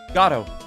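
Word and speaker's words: Godot: of waiting for bergato gatto with the accent on the first syllable is how it should be pronounced it has to be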